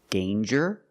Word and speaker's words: danger: Example, danger and anger. So with danger, we hear the j sound. Danger. There's no nasal sound. There's no m. It's a regular N.